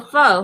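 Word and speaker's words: faux: It's called It's called fox spelled f a ux. Oh, fo. Yeah. Why would they make it with real fur? Yeah, it's pronounced fo.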